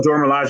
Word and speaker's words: Dora Milaje: Oh, Dora Milaje, yeah.